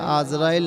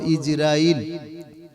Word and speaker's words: ইজরাইল: আসলে আমরা বাংলায় যেটা বলি বলি আজরাইল আজরাইল নয় এটার সঠিক উচ্চারণ হলো ইজরাইল হযরতে ইজরাইল আলাইহিস সালাম